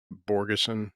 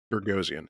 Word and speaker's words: Bogosian: Heather invited Lindsay and Borgeson, is that how you say his name? Borgosen? Bogosian, Borgosian. Peter They Bogosian, invite yeah.